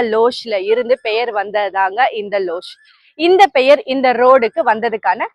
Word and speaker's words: Luz: லஸ் தப்பா ப்ரொனவுன்ஸ் பண்றேன்ல, அதாங்க. போர்ச்சுகீஸ் படி லஸ் இல்லைங்க, அது பேர் லோஷ். லோஷ் அப்படின்னா லைட்னு அர்த்தம். 16ஆம் நூற்றாண்டப்போ போர்ச்சுகீஸ் மிஷினரிஸ் எல்லாரும் மயிலாப்பூர் வந்த போது அந்த இடத்துல சர்ச் கட்டுறாங்க.